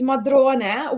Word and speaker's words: Modrone: Also, well, before actually, with Modrone, let's clarify the pronunciation because, in the English-speaking world, everyone calls it Visconti Modrone, but the correct name is Modrone.